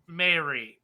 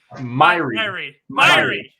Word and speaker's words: Myhre: And we have special guest, Myhre. Did I just say that right? I said it wrong. Myhre. Yeah, there we go.